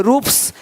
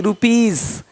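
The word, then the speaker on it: rupees: पी, टी आदि वर्ण हो तो एस का उच्चारण सा होता है। जैसे कि यहाँ पे रूप्स, यहाँ जा साउंड नहीं आएगा, लेकिन यहाँ पे एक्स नहीं एग्स। हीरोज, हीरोस नहीं, देख रहे हो, रुपीस नहीं रुपीज, ज का साउंड आ रहा है हल्का सा।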